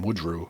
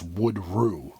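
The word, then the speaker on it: Woodrue: It's like a different pronunci pronunciation. It's not like the last name Woodrew. It's Wood Rue.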